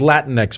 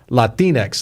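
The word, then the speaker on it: Latinx: told me it was he said it was Latin X but I looked it up finally it's supposed to print you're supposed to pronounce it la tène X like Latino latina here's the reason why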